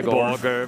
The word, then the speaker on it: Borger: Burger. Heavy Borger. It's definitely an O. Not a U. I would say Borger.